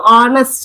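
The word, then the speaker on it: honest: ஸோ இதுல வந்து H silent ஆயிடும், ஆனஸ்ட் அப்படின்னு தான் நம்ம ப்ரொனவுன்ஸ் பண்ணுவோம்.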